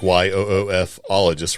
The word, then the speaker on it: ufologist: So, but according to ufologists, and I like how they put the little thing in here, it says pronounce UF, like YOOF-ologists, right?